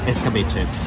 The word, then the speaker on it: escabeche: Escabeche.